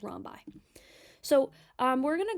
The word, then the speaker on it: rhombi: get you guys a heads up rhi um is the plural form of rhus so if you see the word that looks like this that just mean that there are multiple rhombuses that's the correct way to say it is Romi so um we're going